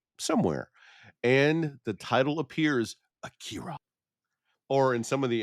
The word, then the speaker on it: Akira: It is actually a bit closer between those two pronunciations. like it's a bit closer to Akira but not quite as bad as Acura um as some of the dubs say.